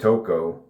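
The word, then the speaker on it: Tocho: One of them named Tokco, T O C H O. I pronounced it as Tokco.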